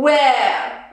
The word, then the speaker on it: where: When, and here, where. Where, okay, so these are WH questions. So the H here is not pronounced.